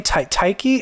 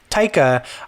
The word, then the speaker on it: Taika: Taiki? How do you say his name? Taika.